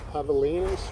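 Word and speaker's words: javelina: Havalas. Yeah. The I call them I call them hogs. And people yell at me. Yeah. Havalas. It's spelled like javelins.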